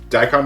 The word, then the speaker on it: daikon: have this uh die tycoon is how you pronounce it daikon it's a daikon is a japanese word wow but it's like